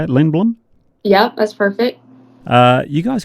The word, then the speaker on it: Lindblom: Is that how you say it, Lindblom?